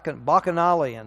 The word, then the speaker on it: Bacchanalian: participating in the Bacchus, I'm not sure how, Bacchanalian. How do we pronounce that? Bacchanalian, that's it.